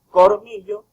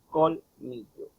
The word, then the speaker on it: colmillo: Muchas personas dicen cormillo en lugar de decir colmillo.